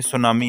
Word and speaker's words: tsunami: तो ये सुनामी है, इसका जो टी है शुरू में वो साइलेंट है।